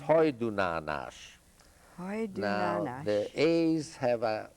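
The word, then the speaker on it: Hajdúnánás: That's pronounced Hajdunánas.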